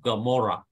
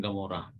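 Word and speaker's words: עמורה: Gomorrah city, the first root letter is Ain. So Ain, although it is like Aleph, it is a silent letter, but it sometimes it gives a G sound.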